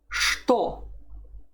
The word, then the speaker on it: что: As you see, there's a word that is not pronounced the way it's written. It's what. Что. Что. It's written with the letter ch at the beginning, but you don't say ch, you say sh.